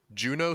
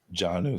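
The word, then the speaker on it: Geno: next I have is I'm going to say the name wrong Juno Smith Jon O Smith Jon O Smith thank you finished tight end 16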